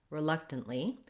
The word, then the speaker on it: reluctant: middle of words so in the word reluctant we have the stress is on the second syllable luck so that's a good